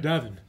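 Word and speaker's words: Davan: Davin. Like, Gavin.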